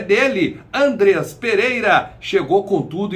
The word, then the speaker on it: Andreas: Você que não acompanhou a coletiva de apresentação do novo reforço do Mengão, o meia Andreas Pereira, não Andrés. Andreas Pereira, ele falou, o nome dele é pronunciado dessa maneira.